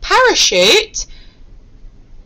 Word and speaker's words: parachute: So for example, in the word parachute, it sounds like a sh, but it's spelt with a CH.